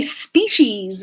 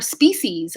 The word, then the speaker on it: species: so the next one how do you say species or species i hear both i think both are totally acceptable in north america i think it's easier